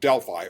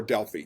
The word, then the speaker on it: Delphi: And the main one had a temple in a city named Delphi or Delphi. Either pronunciation is okay.